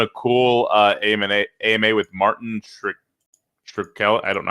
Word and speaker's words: Shkreli: They're doing a cool AMA with Martin Shkreli.